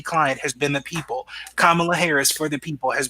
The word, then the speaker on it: Kamala: People have mispronounced her name. They call her Kamala, all these things, and she will stop immediately and say, Kamala. She will stop them immediately and say, "My name is Kamala."